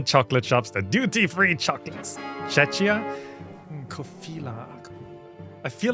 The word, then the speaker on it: Czechia: Oh, it's pronounced Czechia? Czechia.